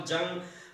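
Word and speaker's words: Jung: आप Karl यंग नाम का CARL Karl YUNG Karl यंग, Karl जंग और देश के हिसाब से लोग उस व्यक्ति के नाम का प्रोनाउंसिएशन उच्चारण करते हैं।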